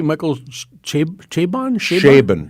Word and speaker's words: Chabon: would know this do you say Michael CH chabon sh sh Shaban Shaban Michael Shaban see you that's like a